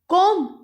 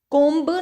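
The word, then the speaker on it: comb: ओ एम् बी बी कॉम फिर से सी ओ एम बी कॉम जब हम इसका नाम बोलते हैं तो हमें कोंब नहीं बोल रहे हैं हम कौन बोल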